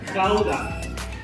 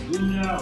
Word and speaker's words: Gouda: Yeah, here in Holland you pronounce the letter G as a. You know the sound of old Harley Davidson motorcycle make when you start it up? Exactly the same thing with the word Gouda.